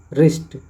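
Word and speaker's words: wrist: provision okay next है silent W जहां पे डब्लू को साइलेंट रखा गया है जैसे डब्लू आर आई एस टी रिस्ट डब्लू आर ओ एन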